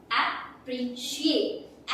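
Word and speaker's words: appreciate: अब किसी भी स्पेलिंग के लास्ट में अगर CIATE हो तो उसको आप पढ़ोगे शिएट। क्या पढ़ोगे, शिएट के साउंड से। तो आप इसे क्या पढ़ने वाले हो, एप्रिशिएट, एप्रिशिएट। ओके, अब नेक्स्ट मैंने लिखा BUNDLE।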